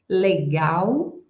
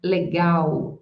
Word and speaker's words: legal: Remembering that "legal" is also largely used by us with this "legal" pronunciation. Legal. Why the final "L" in the word always has the sound of "U". So, legal, legal.